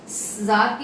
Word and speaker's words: czar: जार की जो spelling है वो है CZAR, जार. We don't pronounce the alphabet C.